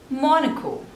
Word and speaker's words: Monaco: Next is Monaco, Monaco. So there are 3 syllables and stress is on the first one.